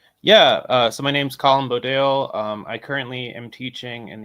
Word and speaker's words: Bodayle: Is that how you pronounce the last name, Bodayle?